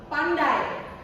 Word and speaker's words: pandai: Pandai. Pandai, Repeat. Okay. Pandai. pandai, Pulau. pulau, Amoy. amoy. So remember, when this is one break, not 2 syllables. It means ini satu tarikan nafas, bukan 2 suku kata.